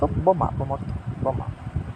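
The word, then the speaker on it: bomb: বি তারপরে হচ্ছে কি এই বি এর উচ্চারণ হবে না বিচ্চারণ হবে না তাইলে বি কাটা বি হচ্ছে কাটা বর্ত বমা বমা মাথায় ঢুকছে আশা করা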